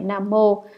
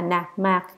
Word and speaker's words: Nam Mô: Hạnh là trí thành khẩn thiết, thường niệm Nam Mô, âm đọc là Nạc Mạc, A Di Đà Phật.